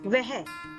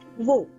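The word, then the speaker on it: वह: In formal or written form of Hindi, it is "Vah”, but in everyday speech, it is usually pronounced as “Vo”.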